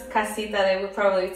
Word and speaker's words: Kasita: But Slovenian people wouldn't be able to pronounce Kasita, they would probably say Tacita, because the C, it's like it's a T,